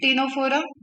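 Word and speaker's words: Ctenophora: क्या मिल गया हमें, सिलेंट्रेटा मिला एंड टीनोफोरा में, निडेरिया एंड टीनोफोरा, दोनों में ही सी साइलेंट होता है प्रोनाउंसिएशन के टाइम। ओके, निडेरिया, टीनोफोरा, सी का कोई प्रोनाउंसिएशन नहीं हो रहा है वहां।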